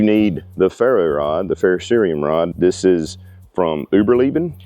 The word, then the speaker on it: ferrocerium: Not a ferrocium rod, a ferrocerium rod. So you may be saying it wrong too.